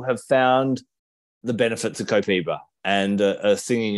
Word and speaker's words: Copaiba: So one of the reasons why Copaiba is, in fact, so that's how they say it in the South America, Copaiba.